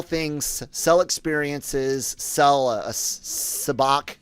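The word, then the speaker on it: sabacc: sell experiences sell a sabach i guess that's how they pronounce it i always said savic but what whatever um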